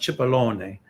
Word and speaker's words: Cipollone: what happens with uh in italian is pronounced cipollone i'll be interested to